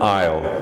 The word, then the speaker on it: aisle: aisle in the line of desks there's an aisle right here yeah it's an open way to